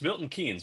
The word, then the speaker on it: Milton Keynes: and uh all the way from uh from from the UK and and I I believe I'm going to be pronouncing it's it's Milton Kees, right?